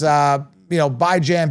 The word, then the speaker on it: Bijan: Like Dijon mustard. Okay. Anyways, but yeah, so there you have it. It's Bijan, Bijan.